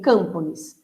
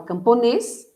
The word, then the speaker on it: camponês: Freguês, você não fala fregues, e nem inglês, nem campones. Você fala camponês, portanto a sílaba tônica está no es.